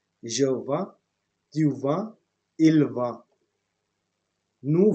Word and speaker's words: vends: I don't pronounce the last S. I say je vends, tu vends, il vend.